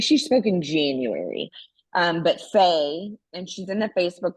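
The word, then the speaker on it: Pheigh: So if you have not connected already with Faye Cruz, and Faye is spelled P-H-E-I-G-H, like how we would spell Lee, like a girl's version of Lee.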